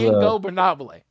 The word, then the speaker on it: Ingobernable: And to be honest with you, even I mean, It's as a ingobernable.